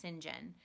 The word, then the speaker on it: St. John: at the home of Sinjin rivers so Sinjin is spelled st. John but that name in England is pronounced Sinjin and she's a beggar